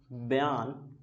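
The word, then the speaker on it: Bjarne: क्या करते हैं इसको बजर बजर पढ़ते हैं ये बजर नहीं है बयान स्ट्रो स्टफ है ठीक है यहां पर बी साइलेंट है इसको क्या पढ़ना है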